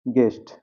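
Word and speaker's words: guest: यहां देखिए जी यू ई एस टी गेस्ट। यू E silent हो गया।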